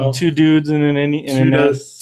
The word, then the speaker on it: NES: Two Dudes and a Nest. Two dudes and a nest is how they say it.